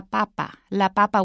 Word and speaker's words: papa: If you change it to la and you change the stress, it's la papa, which is a potato. But if you have el papa, then it becomes the Pope.